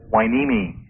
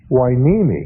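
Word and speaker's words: Hueneme: M the Gold Coast and how do you pronounce it wiimi wiimi yeah an old Indian name must be TW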